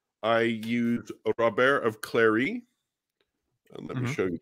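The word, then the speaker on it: Clari: and then also i used a rubber of clary and let me show you the spine here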